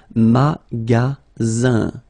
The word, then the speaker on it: magasin: And then the ending here is IN, so it's nasal, it goes in your nose, and it's un. Magasin.